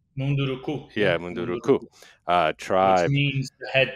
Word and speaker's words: Munduruku: And there's one particularly hard-hitting episode with, I'll probably mispronounce it, but I think it's the Munduruku. Yeah, Munduruku.